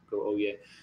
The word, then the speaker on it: Oyez: I always want to pronounce the Z. I think you just go Oyez.